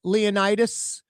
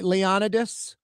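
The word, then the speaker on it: Leonidas: Like, have you ever been by the sewage and waterboard on Clayburns, by Leonitis, by Leonidis, however you want to pronounce it?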